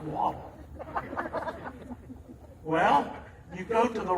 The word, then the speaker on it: Waddell: my marker, Waddell, W-A-D-D-L-E. That sounds like waddle.